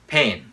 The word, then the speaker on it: pen: f flavor flavor laundry pen pen chứ không phải là b Pain pen light light